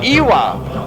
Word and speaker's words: iwa: is pronounced W pronunciation we say iwa as though it was spelled Ava we don't want to